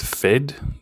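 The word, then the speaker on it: Phed: I pronounce it Fed, P H E D, he was another one.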